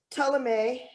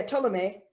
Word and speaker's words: Ptolemy: uh empire now because tulame the first or total yeah ptolemy the first i think that's how you pronounce it or told me